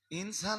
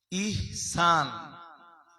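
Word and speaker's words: ইহসান: এহসান কি? জোরে বলুন। ইনসান না নট ইনসান। ইহনসান।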